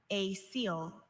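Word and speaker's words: acoel: Are there any alternate pronunciations? I have just a seal.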